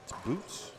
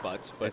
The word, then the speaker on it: Boots: Boots. It's Butts, but it's Boots is the correct way to say it, but everybody says Butts.